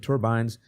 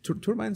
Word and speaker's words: turbine: Turbines is the way to pronounce that. Turbine. Turbine. That is the British pronunciation.